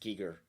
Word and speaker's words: Giger: have to like make sure we're calling him giger because his name is pronounced giger because it is yeah he's i'm a terribly